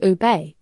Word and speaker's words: ube: This striking dessert originated in the Philippines, where the ube, pronounced ube, is a beloved staple.